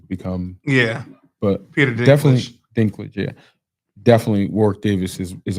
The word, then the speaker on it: Dinklage: Definitely Dinklage, yeah.